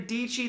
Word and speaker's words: Dietschy: For example, Casey Neistat, Peter McKinnon, Sean Doers, Sarah Dietschy that rhymes with Peachy.